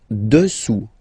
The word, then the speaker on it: dessous: Dessous, dessous. Final S not pronounced here.